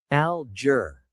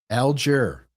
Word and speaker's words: Alger: And and for people want to know a l dz, here's how it's pronounced. Let me go to that. Alger. Alger.